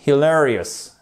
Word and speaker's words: hilarious: That's hilarious. Hilarious, on a bien notre accent tonique ici.